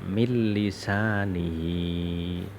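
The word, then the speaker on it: من لسانه: Jadi dibaca mil lisanihi. Tulisannya min lisanihi tapi dibacanya mil lisanihi.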